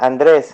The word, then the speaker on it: Andres: your name inc correctly is it andre andre or andres or andre polish style um is that correct yeah yeah andres andres is fine yes andre okay andre